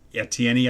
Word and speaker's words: Etienne: the uh running back travis etienne i think his name is pronounced out for the season